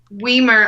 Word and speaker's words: Weimer: be pronounced correctly because we myrrh obviously sounds like Wiener big open which I